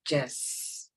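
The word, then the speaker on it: Jez: or GE no j e g-e-z are ways pronounced Jess okay um and it's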